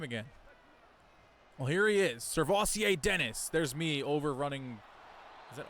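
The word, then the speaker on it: Sirvocea Dennis: Well, here he is, Servassier Dennis.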